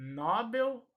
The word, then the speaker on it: Nobel: o nobel ou nobel esta palavra é oxítona portanto a sílaba tônica será a última assim como a palavra condor o acidente do senna última sílaba tônica oi bel mas a última sílaba vai ser a sílaba tônica portanto a última sendo pronunciada mais forte então ele recebeu o